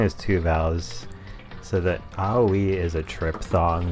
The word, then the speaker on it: Aoi: to pronounce the name Aoi. The video I saw said it's pronounced Aoi. So you kind of like just how those three vowel sounds sound in Japanese, just kind of mashed together.